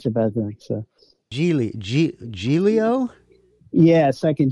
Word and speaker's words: Giglio: Of course, everyone pronounced my name Gigolo. Gigolo.